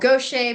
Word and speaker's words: Gautier: in the street in a town that was called Gaucher, but it was spelled like Gautier.